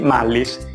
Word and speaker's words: Mullis: questo grande scienziato, perché non conosco bene la pronuncia del suo cognome, quindi credo di averlo chiamato Mullin, Mullis, Mullin, Mullins, ma credo che si scriva Mullis e si pronunci Mullis.